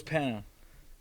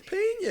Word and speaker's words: Peña: his name uh Carlos Pana Carlos Peña yeah okay come on man I say Carlos Pana no it's paa you're out here being